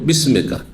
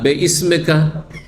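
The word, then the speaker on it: بِاسْمِكَ: শুদ্ধ হচ্ছে বিসমিকা, কারণ এই হামজাটি হচ্ছে ওয়াসল, মাঝখানে পড়লে মিলে যাবে। সুতরাং বিসমেকা। আর বে ইসমেকা, কারণ আমাদের ছোট কালে এইভাবে মুখস্থ করে আল্লাহুম্মা বে ইসমেকা। ইসমোকা যদি আলিফ হামজাটি প্রথমে পড়তে হয় ইসমোকা, কিন্তু যখন মাঝখানে আসবে তখন মিলিত হয়ে যাবে, বিসমেকা হয়ে যাবে।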